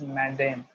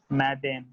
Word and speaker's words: Madame: Madam will be pronounced as Madame, Madame, Madam, right?